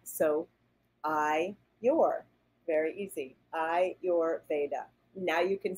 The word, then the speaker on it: Ayurveda: and let's let me teach you how to pronounce that so I you're very easy I your Veda now you can say it a lot of